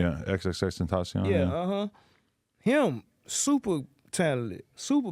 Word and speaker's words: XXXTENTACION: Yeah, XXXTENTACION.